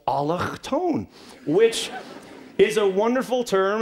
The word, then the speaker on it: allochtoon: And allochtone, it's a beautiful word. It flows right off the back of the throat.